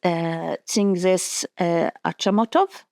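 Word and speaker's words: Chingiz Aitmatov: And I'm very sorry that I'm not going to mispronounce his name. It's Tzingis Achamatov.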